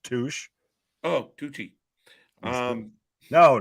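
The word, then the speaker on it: touché: I said it's pronounced Touche.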